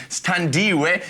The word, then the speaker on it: Sthandiwe: Sthandiwe is the actual pronunciation, and I'm really proud of how I can pronounce Xhosa words.